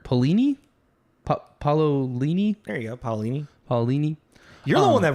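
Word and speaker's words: Paolini: L by Christopher Pini paulini there you go paulini paulini you're the one that read the books dude you should know how to pronounce his name why uh yes so uh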